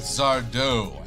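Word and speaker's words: Zardoz: With Zardo, accent on the O.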